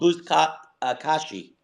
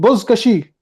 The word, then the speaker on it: Buzkashi: It's called Buzkashi. No, Colonel. It's called Buzkashi. It's the Kashi. You have to pronounce it better.